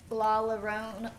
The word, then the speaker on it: La Llorona: I also watched La Llorona. Llorona, is that how you pronounce it? Leona. La Llorona.